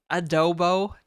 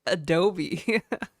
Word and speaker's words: adobo: She was like, you say like adobe. I was like, it's edible. Adobo edible. I'm like, adobo? Pretty sure it's pronounced adobo.